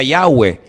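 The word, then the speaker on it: Yahweh: yot he Bad hei verdad ese nombre se pronuncia yahwe Ese es el nombre que aparece en el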